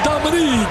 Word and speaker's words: Dominic: Yes, not Dominic, it's Dominique. An outstanding. That's right. And it's spelled Dominic, pronounced Dominique.